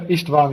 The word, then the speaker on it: Istvan: But Esteban, we'd absolutely, and is that pronounced correctly, Esteban? Yeah, Istvan, yeah.